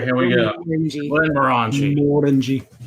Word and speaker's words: Glenmorangie: Glenmorangie. It's Morangie because we like to pronounce everything in Texan, so it's technically Morangie, but we don't care because we're Texans. Glenmorangie. Yeah, they emphasize the more.